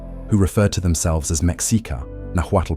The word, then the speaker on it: Mēxihcah: in Lake Texcoco, who referred to themselves as Mexica, Nahuatl pronunciation, Mi-Sica, a tribal designation that included the Tlatelolco, Tenochca,